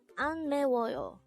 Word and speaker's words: 안 매워요: An 매워요. This is pronounced as a 4-syllable word. The first syllable is an, second syllable is me, third syllable is wo, and third syllable is yo.